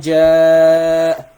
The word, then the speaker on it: جَاءَ: So if you want to recite this ayah, you don't say إِذَا جَاءَ نَصْرُ. That's wrong. خطأ. You don't say إِذَا جَاءَ نَصْرُ. No. إِذَا جَاءَ. The minimum elongation is 4.